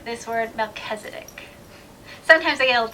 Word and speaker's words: Melchizedek: Some say Melchizedek, some say Melchizedek, others probably say it in ways that I haven't heard before.